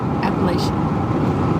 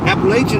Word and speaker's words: Appalachia: is it appalachian apples it's called apollo appalachia as it pronounced appalachia three minutes i remember that because he he corrected everybody appalachian virginia's asking what